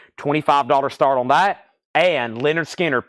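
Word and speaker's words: Lynyrd Skynyrd: Us Indianapolis reissue $25 start on that and Leonard skinnard pronounced Leonard skinnard ooh it's on the first label too I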